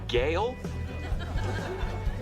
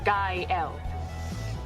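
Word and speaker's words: Gael: Gail. Kyle. Kyle. Gail. girl. It's pronounced guy L. It means joyful.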